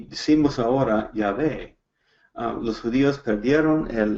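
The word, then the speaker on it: Yahweh: correcta del grandioso pero lo más correcto lo más cerca que podemos calcular es cuando encontramos el bajen en la biblia y realmente está diciendo ya ve el grandioso y vamos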